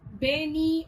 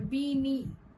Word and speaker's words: bene: Bene means good or well, and it is pronounced as beni or bini.